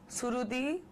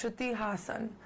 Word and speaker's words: Shruti Haasan: So I get Shruti, Surudi, Strudi, Haasan. No, it's Shruti Haasan. And I would really love if you could say it that way.